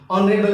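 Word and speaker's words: honourable: ऑनरेबल मैन, एच क्या है, एच हमारा साइलेंट है।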